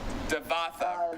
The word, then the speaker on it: Devatha: It says Devatha. Devatha. So you don't say the A in the middle part. Oh. So Devatha, yeah.